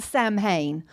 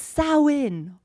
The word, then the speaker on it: Samhain: I know, it is a weird pronunciation. It's not Samhain, although some Americans say Samhain. Let me do that again. Samhain. No, it's Samhain. That's the pronunciation, or Samhain.